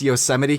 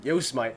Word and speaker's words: Yosemite: gotta tell you though when Mac OS Yosemite came out I thought it was pronounced SEOs might the term you simony I always pronounce it yo smite you go to yo smite park here's my park